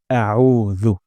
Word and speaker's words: আউজু: হবে এটা খুবই গুরুত্বপূর্ণ আমরা আইন উচ্চারণ করব গলার মাঝখান থেকে আউ আউ হামজার শব্দ